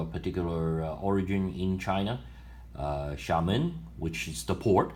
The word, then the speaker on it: Xiamen: How do you pronounce it? Xiamen.